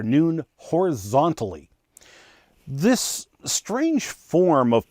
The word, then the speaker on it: nun: bad joke it was a hebrew letter pronounced with a long o like noon uh here you can see one of my historic scrolls taurus scrolls with the letter noon now very rarely the